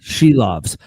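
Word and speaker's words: Silovs: Sheil loes um and I now remember how to pronounce it shoves uh or she loves yes she loves I remember that is she loves because of the song she loves me yeah yeah yeah she loves me that now that song has triggered in my brain of how to pronounce his name she loves even though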